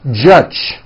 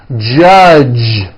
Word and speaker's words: judge: the word judge as judge turning that last sound into an unvoiced CH judge and that is not right the J sound in American English is always voiced judge like that for you